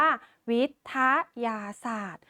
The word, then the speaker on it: วิทยาศาสตร์: เช่น คำ ว่า วิทยาศาสตร์ เรา จะ อ่าน ว่า วิทยาศาสตร์ ไม่ อ่าน ออก เสียง ต เต่า เ่า กับ